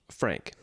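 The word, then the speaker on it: Franc: Pronounced Frank. Thanks, Mom. Yes. Uh, it's spelled F R A N C. That's why. Oh, yeah. But it's pronounced like F R A N K.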